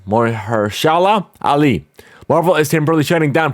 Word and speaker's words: Mahershala Ali: to star the Oscar winner how do you pronounce his name? Mahershala Ali.